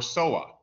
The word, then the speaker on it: SOA: oriented architecture okay or SOA rhymes with boa like the snake Okay so SOA so